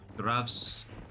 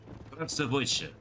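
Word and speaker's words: Здравствуйте: It's pronounced Zdravstvuyte. Zdravstvuyte. What is... That's wrong, but it's close as I can do.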